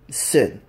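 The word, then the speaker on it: S.I.N.: So, CEO of Seth, the CEO of Sin. I know they're pronounced S-I-N, guys, but, I just call it Sin for short.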